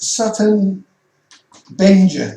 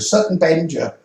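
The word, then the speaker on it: Sutton Benger: of the Chaldees again is Sutton Benja, they pronounce it. I said Benga, but it's not, it's Benja, Sutton Benja.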